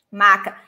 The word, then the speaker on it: maca: Mas muito cuidado com isso. M-A-C-A, just like this. Maca. Not maçã. Maca.